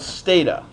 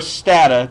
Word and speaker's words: Stata: the second option is called sta or stata depending upon whether you pronounce it as data or data stata stata stata stata